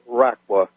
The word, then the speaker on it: Raqqa: What they're talking about, RAQQA, RAQQA. I don't know if that's the right pronunciation.